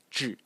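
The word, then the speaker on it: 稚: the whole series, because phonetically it is slightly off in modern Mandarin. It's pronounced zhi, and it means immature, naive, or young.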